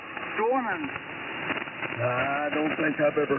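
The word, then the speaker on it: Dwinon: It was pronounced Dwarnon.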